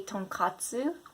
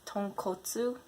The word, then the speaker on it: tonkotsu: So many people say tonkatsu, but it's tonkotsu ramen, right? Tonkotsu literally translates to pork bone, so it's a pork bone based broth ramen, right?